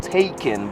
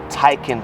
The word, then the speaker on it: Taycan: you can notice here you might really think that this pronounced as taken but it is titan turbo and when they actually